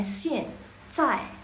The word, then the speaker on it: 现在: Jadi bacanya xian zai, xian zai.